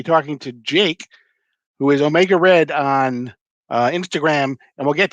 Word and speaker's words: Omega Read: It's spelled like Reed, but it's Omega Red on Instagram.